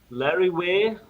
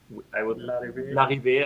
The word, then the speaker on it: Larrivée: A Larrivée. Larrivée. I would pronounce it like French because it's probably French. The Jean Larrivée is from Canada, so probably French pronunciation.